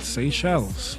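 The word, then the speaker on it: Seychelles: Say shells.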